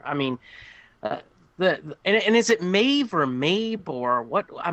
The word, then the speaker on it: Maeve: This is Maeve, spelled with a B, pronounced as a V.